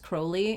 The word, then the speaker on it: Crowley: Also, I was today years old when I learned it's pronounced Crowley, and I've been pronouncing it Crowley for so long.